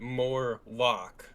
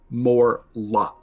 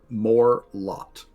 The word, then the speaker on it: Morlot: More or is it more lock? Morlot with a T. Okay. Morlot.